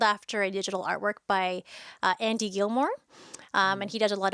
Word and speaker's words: Gilmore: a digital artwork by Andy Gilmore. And he does a lot of digital work. And so I'm thinking of Andy Fillmore, sorry. Oh, yeah. Rhymes with Andy Fillmore, but it's Andy Gilmore.